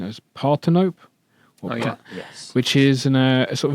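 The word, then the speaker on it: Parthenope: The pronunciation is Partinope.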